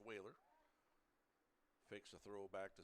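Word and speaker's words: Wahler: Whaler is spelled W-A-H-L-E-R. Pronounced Whaler.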